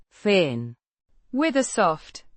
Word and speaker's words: fin: An adverb meaning finally or at last, pronounced Feen.